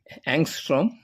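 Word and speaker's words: Ångström: In 1868 um in in English we write that as angstrom uh with a little circle the above but in Swedish uh that a with a circle above is pronounced as O.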